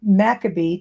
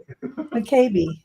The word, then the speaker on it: McCabe: I guess it could be Makabe, too. I mean, M. Yeah, I heard it pronounced all ways. The only way it can be is McCabe.